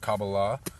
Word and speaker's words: Kabbalah: So to talk broadly, many people have heard the term Kabbalah, or Kabbalah is how it's said in Hebrew.